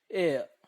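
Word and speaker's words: heir: Next set इज एयर. एयर. यहां पर H silent होता है. H का जो प्रोनाउंस है वो निकलता नहीं है. H-E-I-R वर्ड है. H-E-I-R, एयर.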